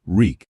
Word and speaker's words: Reek: I'm Reek. It rhymes with sneak.